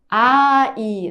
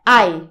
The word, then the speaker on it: 아이: Ai, não é ai, é ai. Ai, são duas sílabas. Ai, desse jeito.